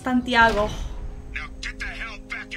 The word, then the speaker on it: Santiago: It's pronounced Santiago.